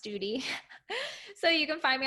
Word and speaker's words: Study: just type in s-t-u-d-y it's it looks like study it's pronounced duty so you can find